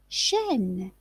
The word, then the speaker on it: chaîne: Chaîne, chaîne, une chaîne. Donc vous voyez que la prononciation du mot chaîne contient le son E, mais il s'écrit AI circonflexe.